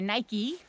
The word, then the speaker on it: Nike: So Nike, or Nike, we say Nike in Dutch.